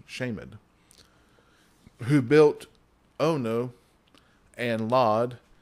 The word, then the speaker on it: Shamed: uh we would say shamed but uh it's actually pronounced uh shamed yeah the pronounce is actually the word the D is actually its own little syllable shamed who built Ono and